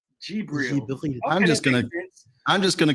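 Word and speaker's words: Djibril: The correct way to pronounce his name is Gibril. Gibril.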